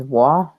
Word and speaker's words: roi: Roy is pronounced as Wah. Wah, King, whatever. Oh, I was like, Marth is what? Never mind. I'm totally confused as well. That's just the French pronunciation.